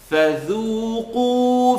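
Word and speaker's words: فذوقوا: فَذُو, ذُو. Now you don't hear oo, you hear oo. You hear the awful sound, the heavy sound. So keep it light, and the qaf is heavy. فَذُوقُوا فَلَن نَزِيدَكُمْ إِلَّا, alif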